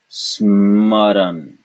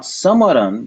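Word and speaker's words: स्मरण: would we pronounce this smaran smaran smar sman it's the same sound as in English when we say smack small the sman do you see that it's not Samaran butan and now we have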